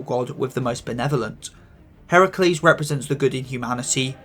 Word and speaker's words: Heracles: corruption and evil and yes it is Heracles not Hercules since he is a Greek god not a Roman one before anyone comments about